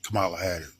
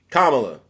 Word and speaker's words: Kamala: Disturbed me about uh Camala Camala Harris in you mean Cala Kamala whatever whatever Kamala whatever um saying